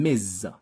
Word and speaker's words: Ms.: but women so we have miss misses and miz the first one miss miss refers to single